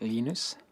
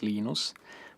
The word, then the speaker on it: Linus: Um, when I speak Swedish it's Linus. When I speak Finnish, it's Linus. When I speak English, it's Lionus.